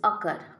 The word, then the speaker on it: occur: So now see in this occur. Occur there is two syllables. Ock, then cur.